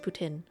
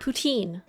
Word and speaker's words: poutine: because now i know it's called it's actually pronounced putin and not poutine even though i really just i it's a